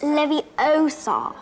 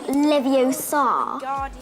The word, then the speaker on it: Leviosa: how hermione tutored ron you're saying it wrong it's leviosa not leviosa yes that whole swish and